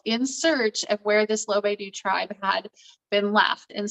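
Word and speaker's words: Lovedu: it on my own it's called looking for lobe do um and it's actually spelled loved and then the letter u but it's pronounced below they do and i picked it up because i saw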